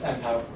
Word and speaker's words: Enpow: Enpow summer camp, did I pronounce that correctly? Yes, Enpow.